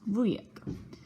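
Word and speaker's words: wujek: boo boo I'm saying vu is polish for uncle it's pronounced Lou yet but I'm so shocked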